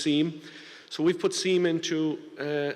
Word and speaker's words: SIEM: Sometimes it's pronounced SIM, actually, but I'm going to use SIEM.